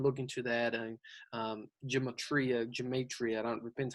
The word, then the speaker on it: gematria: and talk about you know that study uh gematria is how you pronounce dustin that talks about numbers representing a